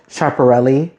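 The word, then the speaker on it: Schiaparelli: And I personally love that Jesse's having a chaparelli, right? that's how you pronounce that era because the brand is currently the go-to for just art and fashion.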